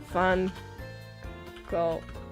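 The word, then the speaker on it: Van Gogh: It's is it ha van go pronunciation? Oh, guttal fun or fun with the initial V sounding like an F and the gh like a throaty.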